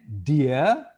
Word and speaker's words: dia: okay okay and then dear dear so dear the pronunciation more or less is quite the same with the DIA d-e-a-r in English or d-e-e-r in English so it sounds like a